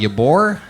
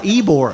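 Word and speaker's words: Ybor: massive shooting at what how do they say say that Yore uh eore eore yeah eore eore this week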